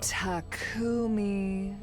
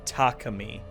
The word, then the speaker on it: Takumi: Takumi sumino. You know what? That's funny because remember this. Um, yeah. Takumi Sumino. I'll remember this. Uh, I know some people pronounce it takami.